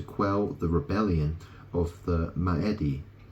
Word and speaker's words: Maedi: allowed Alexander to quell the rebellion of the maedi M Mi it's spelled m AE d i m a e d i m maedi maedi these traits allowed Alexander to